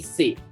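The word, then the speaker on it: c'est: a say this word c e s t in french see apostrophe s t is pronounced as simply say okay or the plural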